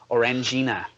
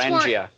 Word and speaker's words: Orangina: The number one most special thing on the net today, though, is an insane commercial from France for Orangina. That's right, Orangina. This commercial is much Orangia.